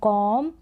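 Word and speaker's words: comb: तो इसका क्या सही उच्चारण हो जाएगा, इसका होगा कॉम म, यानी एम जो है, एम का उच्चारण म होता है तो म तक ही ये स्टॉप हो जाएगा।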